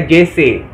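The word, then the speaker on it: जैसा: Oke, lanjut guys, kita lanjut kepada kata sambung sebagai, seperti, itu dalam bahasa Indianya JC, bacaannya JC, tapi tulisannya Jaisa.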